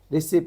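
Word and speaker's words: receipt: जी silent हो गया रिसिप बोलते हैं अपन तो यहां पे क्या हो गया टी साइलेंट हो गया इस तरी से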